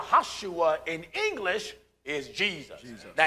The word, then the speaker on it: Joshua: the son of nun there is no JS in the Hebrew language so the proper pronunciation of Joshua would be yahushua that's right yahushua in English is Jesus